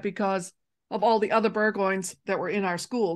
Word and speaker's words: Burgoyne: do you say burgo I say burgoin that's how I say it burgo and other people who say bergo and I tomato tomato I guess